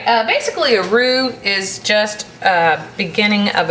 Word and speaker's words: roux: melt more quickly all right uh basically a roux is just a beginning of a basic white